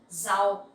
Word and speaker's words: rau: For some words like rau, vegetable, rau, we also pronounce like Z sound in English.